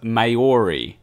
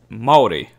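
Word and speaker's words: Māori: like people say it marry or even worse mayori no that's not how you pronounce it moldi m like Melbourne like melbour yeah so it's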